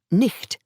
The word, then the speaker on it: night: ch in the north, so night, pronounced nicht at that time, could be spelt as night or nicht.